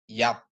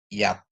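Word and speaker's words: יָד: Ini yod dikasih patang kamar tambah dalet bacanya yat ya. Yod dikasih eh kamat ya ditambah dalet jadi yat yaitu artinya tangan ya.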